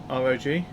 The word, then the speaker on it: ROG: Infinity says, hey, you say ROG the same way I do. Like, just pronouncing it rather than ROG.